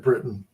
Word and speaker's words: Briton: And Mark Griffiths is pronouncing it Britain.